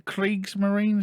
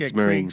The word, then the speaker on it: Kriegsmarine: he dons I believe, is it the Kriegsmarine? Is that how you say it? Or is it Krieg. Kriegsmarine? As in Krieg? Blitzkrieg, so Blitzkrieg, Kriegsmarine. Kriegsmarine, yeah. I was right.